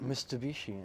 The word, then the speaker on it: Mitsubishi: Mitsubishi.